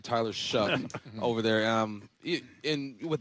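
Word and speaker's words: Tyler Shough: Tyler Shuck over there.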